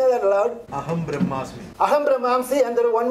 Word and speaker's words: Brahmasmi: He says, Aham Brahmamsi. That's the other word brother said. Aham Brahmasmi. Brahmasmi. So forgive my pronunciation.